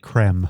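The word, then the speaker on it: crème: the word is accented, so I believe it's pronounced creme.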